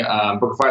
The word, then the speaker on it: Bookafy: Like Bookafy is the domain you have, correct?